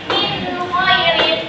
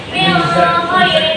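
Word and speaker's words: مِنْ خَيْرٍ: Maka dibacanya bacaannya minhairin. Jadi dibacanya jelas kayak huruf N. Enggak boleh kalau membacanya kayak min kirin itu enggak boleh.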